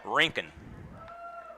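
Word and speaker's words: Rincon: high for a ball now there's a town in Georgia that is spelled r i n c n which is the way Jr spells his last name they call it rinken I live in rink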